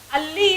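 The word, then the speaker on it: ಅಲ್ಲಿ: For A, they'll say ha. Alli is different from halli. Halli means that lizard. Alli means that's somewhere we are showing the place.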